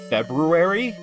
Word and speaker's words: February: life to figure out that February is spelt with an R, like after Feb. And I still forget every now and again. Because it's like, why is there an R there? No one says it.